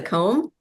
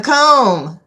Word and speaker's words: comb: Oh, is that the comb? A comb? That's what it is. And it's spelled like the comb that you comb your hair with. Mhm. C O M B. Yep. The B is silent.